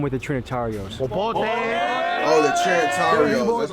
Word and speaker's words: Trinitarios: Oh, the Trinitarios.